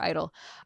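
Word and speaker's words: i-dle: truest sounding to to they're not G idol anymore. They're idol. Um Oh, I'm sorry. Yeah. The G is silent and always has been and now it's dead.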